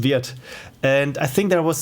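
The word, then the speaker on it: Wirth: yes it's if you if you pronounce german it's not worth but it's niklaus weird and i think there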